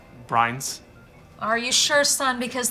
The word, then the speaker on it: Brianz: brains is it uh no ma'am it's actually pronounced brines are you sure son